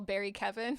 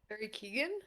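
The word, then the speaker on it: Barry Keoghan: Um, this Irish man who I always call Barry Kevin, even though that's not how you say his name. I can never remember how you say his name, but he can like mind control people. Barry Keegan.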